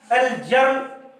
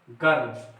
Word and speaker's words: girl: तो GIRL जर्ल होना चाहिए, लेकिन जर्ल पढ़ाया नहीं गया, पढ़ाया क्या गया? गर्ल। अब देखिए GIRL से गर्ल हुआ, यानी जी का उच्चारण क्या हुआ? ग हुआ।